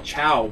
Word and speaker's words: Tso: It's General Tso anyway. Tso. Well, it's... Everyone says General Chow, but it's spelled T-S-O.